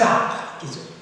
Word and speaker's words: arcs: qu'est-ce que vous avez deux Arces ou deux ares le C ne se prononce pas à deviner coquillard à